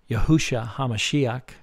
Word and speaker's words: Yahushua HaMashiach: Jesus Christ, more accurately pronounced Yahushua HaMashiach, was God the Son, who lived in the flesh on earth 2,000 years ago.